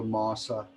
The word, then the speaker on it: masa: So you're going to hear half, you're going to hear masa instead of master, and so on.